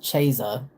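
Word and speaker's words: Ceza: I'll tell you, uh, Tech9 did do a song with someone named Sea or it's spelled C Eza, but I believe when he said it in the song, he says Chesa.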